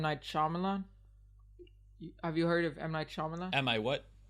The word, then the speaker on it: Shyamalan: Yeah, Shyamalan. Like shaman. Like, no, Shyamalan. Shy. AM.